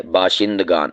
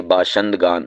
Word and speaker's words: باشندگان: لفظ، بامعنی آدمی، لوگ۔ تو یہ لفظ ہوتا ہے باشندگان، بعض اسے باشندگان بھی بول دیتے ہیں، تو یہ شین کے